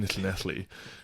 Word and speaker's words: Llanelli: And like, I remember Googling the town, and it's in Llanelli, which is, I only know how to pronounce it now because my wife is Welsh and double L makes that sound.